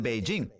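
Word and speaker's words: Beijing: cierto déjeme pronunciarlo correctamente ahora le llaman beijin cuando era pequeño era pequín pero ahora parece que le llaman beijin beijin Déjame volver a la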